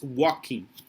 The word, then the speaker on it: walking: i tell you that this pronunciation here of walking do you remember the verb yes it doesn't have the early pronunciation okay we tend to say whoa but it's walk i'm i'm walking on there remember that there is a zoo walking it's walking okay finish the paragraph hammer